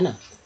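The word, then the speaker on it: know: एन हो, ठीक है, यानी के से शुरू हो उसके ठीक बाद एन हो तो के जो है के लेटर जो है साइलेंट रहता है।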